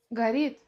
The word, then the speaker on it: говорит: Слово «говорит» в быстрой речи мы скажем как «горит».